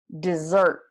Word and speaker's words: dessert: it desert desert desert so the stress is how you can tell which word it is desert desert desert desert